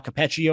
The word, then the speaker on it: Capaccio: Hopkins Bills beat reporter Sal capaccio I believe that's how you say his name um the city heard